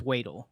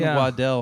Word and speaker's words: Waddell: ever gets a ride it's wadle wadle wadle I was on Waddell hard you should have done